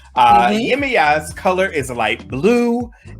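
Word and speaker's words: Yemaya: it's spelled weirdly well for me but it's pronounced yemiya so yemiya yimiya is the mother of mankind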